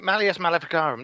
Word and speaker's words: Malleus Maleficarum: to bother malius malleus macgowran trick Gordon malice malleus Maleficarum there you go the hammer to witches when